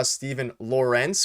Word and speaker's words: Stephen Laurence: was him we saw Stephen Laurence which is the pron the correct way to pronounce it now we were right been telling everybody Steven Lawrence had a